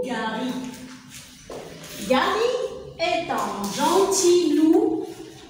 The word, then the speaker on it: Gary: Gary, le G avec A, ça donne gars. Et le R avec Y ici, elle est toujours égale à I. Ça donne ri.